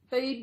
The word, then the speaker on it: Bede: Bede was my grandfather. Bede is an unusual name. It's spelled B-E-D-E.